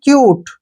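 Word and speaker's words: cute: ठीक बाद ई है तो हम यू को यहां पर यू ही पढ़ेंगे सी यू टी ई इसको पढ़ेंगे हम क्यूट क्या पढ़ेंगे क्यूट ठीक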